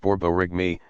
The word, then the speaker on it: borborygmi: by moving gas borborygmi pronounced borborygmi a word that sounds a lot like the noises your stomach makes when it's empty you how does nuclear